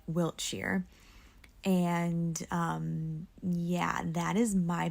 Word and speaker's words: Wiltshire: am a dumb American who pronounced all these British towns ending in SHIRE as Shire when they really should be pronounced like Wiltshire.